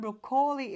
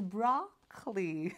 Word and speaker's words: broccoli: so sinabi ng co-worker is not brokoli is broccoli not inform broccoli pala